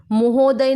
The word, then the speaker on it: महोदय: Okay, महोदय, महोदय नहीं, प्रोनाउंसिएशन महोदय। और लिखते समय भी महोदय, हम बोलते समय महोदय बोलते हैं, लेकिन मोह नहीं होता है, म होता है, म, महोदय। उसके बाद तुम्हें क्या करना है?